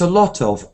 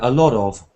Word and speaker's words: a lot of: those words in English, because it's t is the start. So it's a lot of, or in America a lot of. They don't say t, they say d, but there's a sound